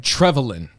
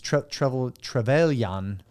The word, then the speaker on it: Trevelyan: How do you fucking pronounce his name? Trevelyan. That's what I used to pronounce it, but it's different. It's Trevelyan.